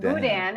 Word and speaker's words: boudin: they fried it so heavy carbs pronounced Boudin at least Cajun Country in Cajun Country is